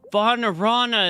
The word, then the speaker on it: Vanarana: Oh, Vanarana is how you pronounce that.